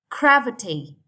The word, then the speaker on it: gravity: together number two hey what do you have gravity gravity so stretch on the first syllable okay technology technology is straight on the